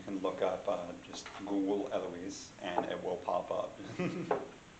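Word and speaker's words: Elewys: Okay, one of the resources I want everyone to be aware of, there is a lovely Scadian, the Honorable Lady Eloise of Finchenfield. That is spelled E-L-E-W-Y-S.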